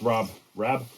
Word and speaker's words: Rab: This is RAB or RAB, I think it's pronounced RAB, Ascent 300 XL.